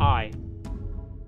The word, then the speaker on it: eAI: We present eAI (pronounced "eye"). eAI is a desktop app for annotating P&IDs with custom data properties.